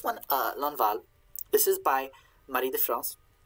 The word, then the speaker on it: Marie de France: So this one, L'Enval, this is by Marie de France. Trying to pronounce her name more in an old French way than a modern French way.